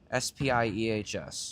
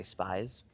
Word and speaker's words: Spiehs: Spiehs. You can say Spies.